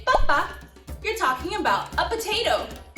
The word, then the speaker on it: papa: It looks like papá, except that it doesn't have an accent.